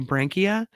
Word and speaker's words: branchia: And the next question, Brankia or Branchia, B R A N C H I A Brankia is the zoologologist name for what common structure